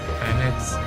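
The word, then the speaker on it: H'aanit: Pretty sure her name is pronounced Hanit.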